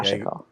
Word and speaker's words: sashiko: It's Yeah, shashiko. you got to get the emphasis on the right syllable, as they say.